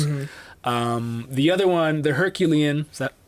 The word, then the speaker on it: Herculean: The other one, the Herculean, is that how you pronounce it?